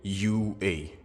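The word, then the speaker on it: 雄英: Ces deux premiers kanji au début du nom de l'école sont prononcés UA, ce qui ressemble à UA en anglais.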